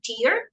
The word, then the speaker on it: tier: Yeah, so this word tears is the same as the same pronunciation of the word tears, lágrimas, okay? It's the same. A tier is a level. This spelling, T-I-E-R-S, tier is a level within a hierarchy, okay?